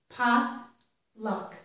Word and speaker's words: potluck: pad and when we pronounce potluck and has two pronunciations the standard or dictionary pronunciation which is probably the one you should learn stresses both syllables pop look but there is widespread non-standard pronunciation where many people pronounce this by stressing only the first syllable if you're just learning this word just probably learn the dictionary pronunciation which stresses both so bad luck stresses